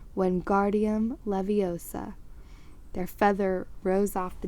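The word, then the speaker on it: Wingardium Leviosa: much more luck when guardium leviosa he shouted waving his long arms like a windmill you're saying it wrong harry heard hermione snap it's when guardium leviosa make the gar nice and long you do it then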